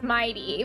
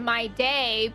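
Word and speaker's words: Mydei: of people pronounce it my day because they're used to pronouncing the like day. the way they pronounce it is actually a little closer to the Greek.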